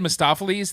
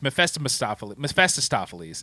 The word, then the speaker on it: Mephistopheles: And I don't know, you got Peter Fonda you said Mephistopheles. That is the way it should have been, but it's Mephistopheles. There's extra syllables in here, they say.